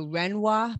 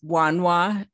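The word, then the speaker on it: Wanhua: the fight to stop the renoir plant did i pronounce that right it's wanwa w-a-n-h-u-a mm-hmm w-a-n-h-u-a runway oh yes yes now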